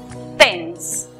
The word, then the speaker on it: tense: Con la palabra tenso, que se escribe, vemos que hay E muda al final, precedida de dos consonantes. La vocal que queda toma su sonido cerrado. Entonces la pronunciación es tense.